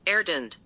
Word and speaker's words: arytenoid: The word arytenoid is pronounced erdend.